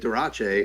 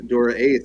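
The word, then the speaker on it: Dura-Ace: hyphen in there because people were pronouncing it Durace oh, and not getting that it was Dora Ace, so they put the hyphen in to make sure it was like two distinct yeah.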